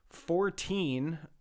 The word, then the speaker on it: Fortean: a story for the 14 Times, which is spelled FORTEAN, so not like the number 14.